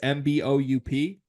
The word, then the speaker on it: Mboup: This one is Khadim Mboup. I'm sure I'm mispronouncing that. It's Mboup.